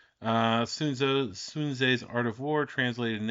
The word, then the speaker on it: Sun Tzu: Sun Tzu's The Art, well, technically it's pronounced Sun Tzu.